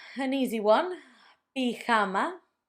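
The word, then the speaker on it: pijama: Best pama. An easy one. Pama.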